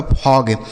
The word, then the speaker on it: fog: ठीक है, आगे FOG, एफ से हो गया दोस्तों फ, इस ओ का उच्चारण अ हो गया, जी से ग बनेगा, यह लिखा आपका फॉग, FOG फॉग हो गया।